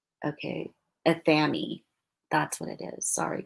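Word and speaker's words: athame: Sparrow says this is so Sparrow says that so it rhymes with whammy. Okay, athemae.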